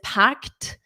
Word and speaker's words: packed: So, this one, this packed, notice this e d is pronounced as a t.